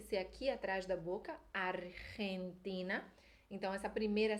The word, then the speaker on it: Argentina: retina tem que ser aqui atrás da boca Argentina Então essa primeira sílaba e vai ser rende e depois o